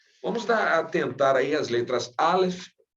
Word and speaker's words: Aleph: Mas no hebraico são duas letras que o Aleph, por exemplo, ele tem um som mais brando e o Ain tem um som mais forte, quase imperceptíveis para nós. Se nós estivéssemos ouvindo uma palavra que contém essas duas letras, quase nós não a perceberíamos, de tão suave que é o som delas, apesar do Ain ter o som mais forte que do Aleph.